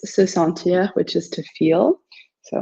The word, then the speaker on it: sent: It's je me sens, tu te sens, il se sent. The T is silent.